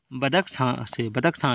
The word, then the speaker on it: बदख्शां: इसका जो आयात करता था वो करता था ये लोग हिंदुकुश क्षेत्र के आपका बदख्शां से। ठीक है, इसका स्पेलिंग में थोड़ा मिस्टेक हो रहा है, बदख्शां बोल सकते हैं इसको, बदख्शां से, हिंदुकुश क्षेत्र के बदख्शां से।